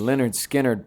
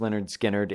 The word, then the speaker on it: Lynyrd Skynyrd: The Leonard Skinnard possessed them.